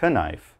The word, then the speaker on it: knife: to cut your vegetables so remember not knife just knife after that another example